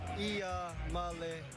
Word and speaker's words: Iamaleava: The correct way to pronounce my last name is Iamaleava.